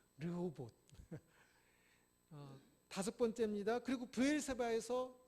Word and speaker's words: 르호봇: 로봇하고 발음 비슷하죠. 르호봇.